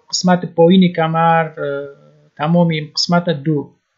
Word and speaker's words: dos: پایین کمر تمامی قسمت دو d o s دو j'ai mal au dos من کمر درد دارم j'ai mal au dos j'ai mal au dos دو است تلفظ نمیشه من کمر درد دارم